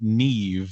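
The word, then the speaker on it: Niamh: Now I I I do happen to know that I've seen the name Neve spelled N I am a Mh.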